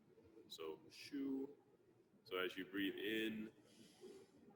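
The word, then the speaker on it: xu: that sound is shu so in english it would sound like your shoe that you wear but the is actually x u so shoe so as you breathe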